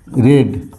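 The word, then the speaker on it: read: चुके हैं we have रेड आर ई ए डी रेड we have रेड रीड रेड रेड same spelling but pronunciation is different रीड रेड रेड हम लोग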